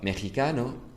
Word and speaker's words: mexicano: Well, mexicano is written with an X, but it's pronounced with a Ch. And that's just an exception.